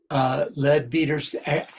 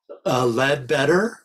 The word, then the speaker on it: Leadbeater: I've heard his name pronounced Leadbetter, Leadbeater, Leadbetter, so it's your choice. I've heard the English pronounce it Leadbeater. I kind of have settled with Leadbeater. I think that's the most common use, So at any rate,